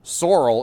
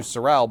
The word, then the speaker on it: Sorrell: No, but folks in South Alabama pronounce the name Sorrel instead of Sorell like we do up. I'm Sorell, but down there they're all Sorrels.